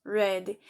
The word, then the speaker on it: read: Aqui no presente nós lemos read, no passado nós lemos read, com a mesma pronúncia da cor vermelha em inglês, red.